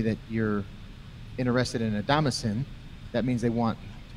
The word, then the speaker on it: Damascene: Yeah, it's Damascene.